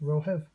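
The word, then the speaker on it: romhaibh: This is the singular of you, and this is the plural of you, pronounced rohiv.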